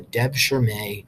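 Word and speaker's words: devşirme: do this they had a system called the Deb sure May system that's how you pronounce that word I'm not going to be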